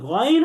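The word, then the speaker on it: غين: 1 number বৈশিষ্ট্য হচ্ছে গইনের উপরে একটা নুক্তা থাকবে, এবং উচ্চারণ করার সময় যখন আলাদা উচ্চারণ করব, তখন তাকে 3 আলিফ টেনে পড়তে হবে। 2 নাম্বার বৈশিষ্ট্য হচ্ছে গইন হরফটি হচ্ছে সেই 7 হরফের অন্তর্ভুক্ত যে 7টি হরফকে সবসময় মোটা করে পড়তে হয়, এবং এই 7 হরফের একটি হরফ হচ্ছে গইন। এটাকে পোর বা মোটা তথা মুখ গোল করে পড়তে হবে।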